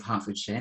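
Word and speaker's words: Hertfordshire: i did my master's degree at university of halfordshire that's how you say it by the way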